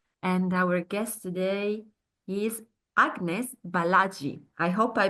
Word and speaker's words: Agnes Balazsi: And our guest today is Agnes Balazsi. I hope I pronounced well your name, Agnes.